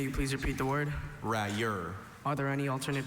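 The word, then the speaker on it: railleur: May you please repeat the word rayur. Are there any alternate pronunciations?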